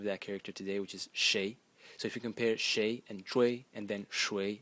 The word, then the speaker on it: 誰: Today we pronounce it as shui in Mandarin, but not so long ago, it used to be pronounced as shui in the second tone.